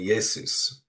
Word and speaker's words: Jesus: not present or distinct, the name would have been pronounced with a sound more akin to the modern English Y. So, that would have been Yesus uh, instead of Jesus, which it just evolved into the J sound.